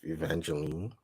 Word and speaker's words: Evangeline: Evangeline.